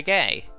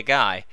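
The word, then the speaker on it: Gai: for Zo, Kamen Rider Gay. Although taking the pronunciation of the Japanese kanji used for Gay into account, it's more like Kamen Rider Guy.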